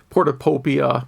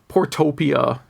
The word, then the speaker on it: Portopia: He says it's a lot like a Portopopia, which I mispronounced, or Shadowgate, point and click. Those are actually pretty different games. I tried to do the Portopia mystery game, just because I know it's like